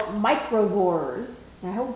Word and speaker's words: Microvores: are you being the judging on is called microvores i hope i'm saying that right michael you're